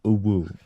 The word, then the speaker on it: UwU: Frosty, it's pronounced uwu.